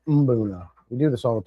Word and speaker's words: Mbuna: to start draining this Mabuna tank. Mabuna, Umbuna, Mubuna, Booners. You guys make fun of me. I never say it right. Mbuna. I think it's Mbuna.